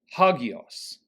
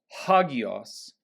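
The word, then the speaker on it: ἅγιος: Holy is hagios, hagios, hagios. Notice the rough breathing mark, which is why we pronounce it as if there were an H at the beginning.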